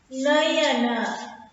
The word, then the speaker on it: नयन: नयन, न अयन आना चाहिए, ने एक यहाँ पर अक्षर आने चाहिए, न य न। देखिए इसका प्रोनाउंसिएशन होती है नयन, नयन, अन आती है, न अयन आती है, नयन।